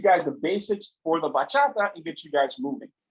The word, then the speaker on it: bachata: that we like to do it's called the bachata yes that's how you pronounce it yes it is a dominican dance